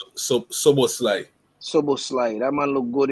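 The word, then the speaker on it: Szoboszlai: So how you pronounce his name? So Soboslai.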